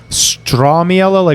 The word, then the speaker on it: Stramiello: I don't think I've ever in my entire adult life corrected someone on my name because there's Stramiello, with almost an O is the correct pronunciation.